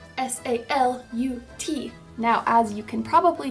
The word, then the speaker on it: salut: member, you're gonna say salut, S-A-L-U-T. Now, as you can probably tell from what I just said, the T is silent. You do not say it.